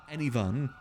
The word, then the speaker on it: Enivan: It's pronounced That is Enivan. not Air 1. Imagine split into 2 words like A-N-Y, any, and then say fun, but replace the V, the F with a V. Enivan.